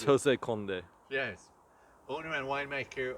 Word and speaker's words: José Condé: because I'm not sure which language I should pronounce it it's Jose K yes owner and wine maker of the uh